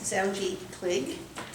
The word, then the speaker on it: Zoungy Kligge: I've been mis mispronouncing it all this time. This is Zji Clig.